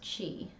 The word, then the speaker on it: qi: Key is pronounced chi. What? I didn't know that. I mean, I guess I'm not surprised because that's how we Romanize Chinese words.